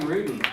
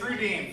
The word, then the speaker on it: Rudin: Alright, it's no surprise that he mispronounced my last name. The only people that ever get it right are judges and cops for some reason. It's pretty ridiculous. Hey, it's Rudin for everybody.